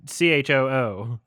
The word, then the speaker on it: Chu: It's C-H-U. It's C-H-O-O. Choo choo choo.